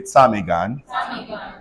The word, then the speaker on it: ptarmigan: PTARMIGAN say Tamigan.